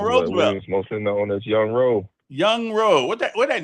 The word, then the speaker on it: Yunro: but now, man, I'm grown now, but it's Young Ro actually, man. Okay. Why are you in how you spell it?